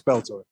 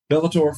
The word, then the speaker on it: Bellator: this uh bill I don't know how you pronounce is a Bellator yeah it's Bellator Bellator fighter and I'm like all right let's do